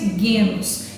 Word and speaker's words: genos: é a sociedade dos genos ou a gente pronuncia guenos que é sociedade gentílica